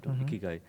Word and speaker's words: Ikigai: And hence, if you put together Ikiru Gai and Ru is silent, Ikigai, it means trying to get in the purpose of your life.